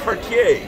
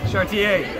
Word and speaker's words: Chartier: Robert, David, I'm going to pronounce the French pronunciation. Chartier. Chartier.